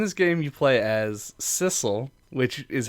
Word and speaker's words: Sissel: game you play as Sissel which is how I've been pronouncing it and I assume is correct because it rhymes with missile who is killed at